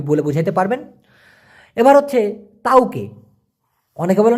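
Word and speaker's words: tauke: বুঝাইতে পারবেন এবার হচ্ছে তাওকে অনেকে বলে না দিয়া তকে বসার মূলত উচ্চারণটা হবে তাওকে অনেকে বলে ত্বকে এই তকে মানে হচ্ছে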